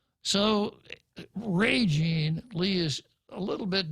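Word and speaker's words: Régine: senator lee's name is r-e-g-i-n-e with a uh strong accent mark over the e meaning that the stress is put on the first syllable not the last now i i would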